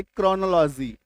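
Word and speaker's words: chronology: ओ एल जो है क्रोनोलॉजी क सी एच के बाद जैसे ही आर आया इसका साउंड बन गया क्लियर है जिनको नोट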